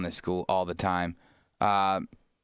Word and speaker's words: Duquesne: Duquesne. How do you say that? Duquesne? Duquesne.